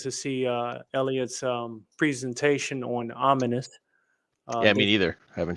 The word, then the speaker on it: Ominus: name of the comic is called Ominous, but it's not spelled like this.